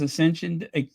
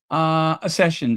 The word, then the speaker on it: Accession: So again, it is Ascension and Ascension Day. Ascension. Oh my goodness, how do you say that? Let me look at the spelling. Accession Day. Yeah, it's Accession Day.